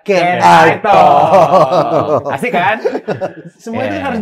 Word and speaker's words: Canitalk: Kanitok apa Can I Talk nih bacanya? Kanitok bisa dibaca Can I Talk.